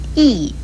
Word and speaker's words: 屹: 意这个字的国语注音是意四声意，意是形容